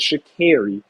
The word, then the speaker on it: Sha'Carri: She said, no, my name is Sha'Carri. So I'm trying to change how I say her name, because I always say Sha'Carri.